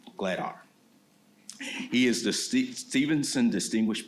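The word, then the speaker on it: Glatthaar: Glattar.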